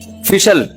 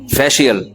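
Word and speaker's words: facial: फिशल फिशल फिशल फैशल अबे सही pronunciation बुलवाया करो। फिशल ना फैशल ये अमेरिका से आए हैं। ये सही बताएंगे। जी फेशियल ये अमेरिका से आए हैं।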